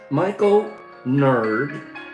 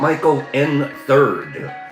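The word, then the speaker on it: Michael N3rd: Michael Nerd. Okay, so the 3 is an E. Okay. So it's not Michael N. Third. It's Michael Nerd.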